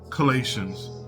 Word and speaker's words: Colossians: Is this word pronounced Colossians? Colossians. Colossians.